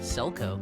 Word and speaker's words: Selkow: I'm pronouncing that right? Selkow? Selkow. Selkow.